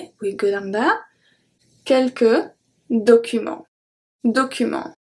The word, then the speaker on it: documents: Je dois aussi vérifier, we go down that, quelques documents. Documents. So the T and the S are silent.